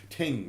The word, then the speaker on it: thing: They don't pronounce the H here in Ireland, by the way. That's why you'll hear it ting rather than thing and so on.